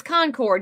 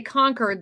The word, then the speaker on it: Concord: No, it's Concord. Yankees say Concord. They have their little towns up there from the Revolutionary War, and we participated, but we're Concord.